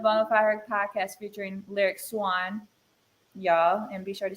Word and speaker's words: Swann: It is pronounced Swan, like the Swan. bird, lyric Swan.